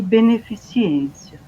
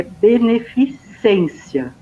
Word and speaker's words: beneficência: aquela questão né a entre benevolência e beneficiência é beneficência né a forma como se escreve inclusive ele tá precisando isso na 20º lá no dicionário e ele fala não é beneficiência é beneficência né o correto então o que vem